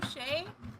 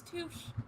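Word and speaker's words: touché: with touche. I always thought it was touche until like 2015 when someone corrected me. They're like, actually, it's touche.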